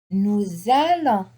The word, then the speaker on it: nous allons: Nous allons. I have S with a vowel here. Normally the S is not pronounced, but on appelle ça la liaison. We say nous allons.